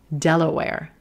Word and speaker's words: Delaware: We've got that red pepper primary stress. Notice how I'm using my hand. Use your hand too. It will help you know how long to stretch that primary stress syllable. And then we're gonna go to a very quick schwa. Della, Della, Delaware, Delaware.